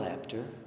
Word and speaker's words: Apter: This is Bill Apter, rhymes with chapter.